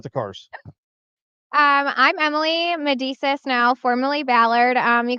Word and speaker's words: Medesis: yep so say your last name for me medisa you said it right okay I said it